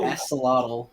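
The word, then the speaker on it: axolotl: They They know how people feel about the aselottle. Believe there's an X in that. No, aselottle. I'm not He said it right. We we we've seen it. There there there's not there's no X.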